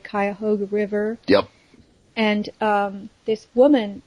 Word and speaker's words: Cuyahoga: And there was an explosion in Cleveland at the Manhattan Project plant on the, I hope I'm saying it right, Cuyahoga River.